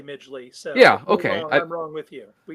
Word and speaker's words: Midgley: Oh, that I would say Midgley.